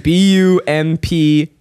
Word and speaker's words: Bumpn: Yeah, well, I thought it wasn't spelled with a U. Easy, Keith. So Bumpn, B-U-M-P-N.